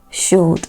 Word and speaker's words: should: o u l d these words have the L Sound silent yes so these words are not pronounced C would should they are correctly pronounced